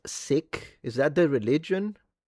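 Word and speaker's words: Sikh: Seek. Okay, thank you. Seek. Seek. Thank you for the for helping me with the pronunciation.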